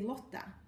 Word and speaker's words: Lotta: able to say it so I don't say look like I win in Sweden I say Lata because it's a bit closer to what people here are able to say the closest I've got to the sound in American English is the word Lord or lore it's a bit too long the Swedish version should be more oh look but it's